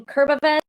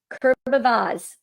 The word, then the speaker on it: Kurbavez: I'm going to bring Christine Iverson from Crow Practice, Lisa Jennings from Wildly Different, Kurbavez from Talon Entertainment AV, Kurbavaz. I said it wrong the first time.